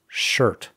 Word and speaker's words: shirt: Digamos shirt unas cuantas veces. Shirt. Shirt. Shirt. Asegúrate de pronunciar la R o maldecirás.